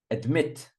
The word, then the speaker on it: admit: saying accuse accuse accuse admit admit second syllable I think not admit admit advise second syll advise